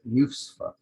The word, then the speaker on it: Nusfa: So I use for dua, but it's news, not used to, but Nusfa with an N on the front.